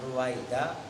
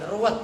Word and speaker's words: ruwaida: Annahuma masdaroni, annahuma pada sungguhnya lafadz balha dan ruwaida. Ini saya tegaskan lagi, ruwaida itu ya. Ntar lu bacanya kayak semalam lagi ruwet lagi. Ya kan? Itu ruwet Pak, ruwaida bacanya ruwet. Wah, ngaco namanya.